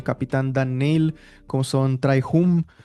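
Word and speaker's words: Trai Hume: como son el capitán Dan Neil, como son Trai Hum, o Hume, no sé cómo se pronuncia Sí, tampoco. Trey Hume, sí.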